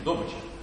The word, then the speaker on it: добыча: Вот так, с таким ударением – добыча.